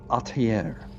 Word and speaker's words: atelier: Is that atelier? Atelier. I'm not sure how to say it. Sounds good to me. It's French. It's French, huh? You say it with the French accent, you have said it correctly, huh?